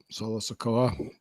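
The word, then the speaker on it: Solo Sikoa: Solo Solo Sakoa.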